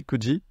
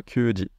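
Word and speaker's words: 九時: non pas nanaji et c'est kji et non pas ki à part ça tout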